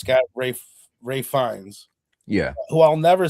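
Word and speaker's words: Ralph Fiennes: It's got the kid and it's got Ray Fiennes.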